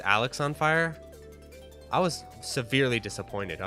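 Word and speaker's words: Alexisonfire: thing is charlene is i always pronounce the name of the band alexis on fire and then when someone corrected me and they're like no it's alex on fire i was severely disappointed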